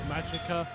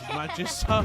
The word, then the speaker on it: Magika: I can't forget how can't forget that the green Mystic Force Power Ranger somehow pronounced Magika as Magisa.